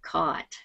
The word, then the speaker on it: caught: wrong and not get caught how do you pronounce that Co yeah caught caught caught yes it sounds like this word c CAU yes it's the same sound okay although sometimes when